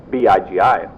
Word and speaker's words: Bigi: in the grunt's eye bigi pronounced biggy because of his frequent